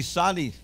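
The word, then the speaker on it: צדי: Say with me, sadi. A sadi is a tz sound, tse, like in nets.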